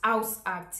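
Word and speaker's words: Hausarzt: to register with a house act house act yeah that's the pronunciation your house acts we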